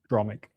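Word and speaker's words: palindromic: Palandroic.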